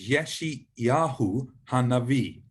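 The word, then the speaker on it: ישעיהו הנביא: It's Yeshayahu Hanavi. Yeshayahu Hanavi. So Yeshayahu means God is saves, or God is salvation. Ha means the, and then Navi is prophet. Yeshayahu Hanavi.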